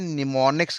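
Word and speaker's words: mnemonics: निमोनिक्स कहते हैं, निमोनिक्स। जहां पे एम मेरे पास क्या साइलेंट है, एम को याद नहीं करना, बाकी सबको याद करना है, NEMONICS, जिसको बदले में हमने क्या नाम दिया है?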